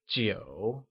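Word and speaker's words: 九: 9 translates to jiǔ and is pronounced with a falling, rising tone.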